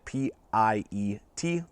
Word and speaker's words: Piet: We're taking a look today at the CRKT Piet, and I know it's spelled oddly, but from all the research that I'm seeing, that's the way that you're supposed to pronounce it, P-I-E-T, Piet.